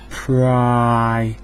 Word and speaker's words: Primark: These are all pronounced primary, primate, Prime Minister, and prime. Pri is a Latin suffix to mean first. The first. Pri. So Primark, if you think of it, is the first market.